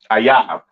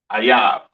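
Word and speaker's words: אויב: Ayab. Okay. That is how you pronounce enemy, all right, in the Hebrew. Ayab.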